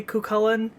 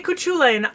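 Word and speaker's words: Cú Chulainn: for her and then no one's gonna get mad at you if you say kukulen kukulen if you say kuchulene i might dump this on your head i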